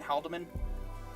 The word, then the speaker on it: Haldeman: because Nolan and Joe, how do you say his last name again? Haldeman? Yeah. Pronounce the E? Okay. And Joe Haldeman were very much on